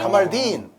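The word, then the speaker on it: Kamaldeen: 딘의 액센트가 있어요. 카말딘. 카말딘 술리마나.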